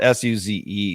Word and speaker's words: Suze: Her name is spelled S-U-Z-E. S-U-Z-E.